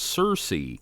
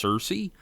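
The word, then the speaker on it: Searcy: forward it's actually pronounced Cersei uh like search so yeah kit wanted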